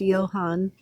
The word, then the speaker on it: Johan: His name is technically pronounced Johan because they're Swedish and Norwegian or wherever, Ah, whatever that is.